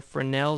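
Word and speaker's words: Fresnel: the next term here frel Zone and the S is actually silent so it's pronounced frel I know it's kind of strange it's strange to me but that's how it's pronounced Fel Zone and the fernel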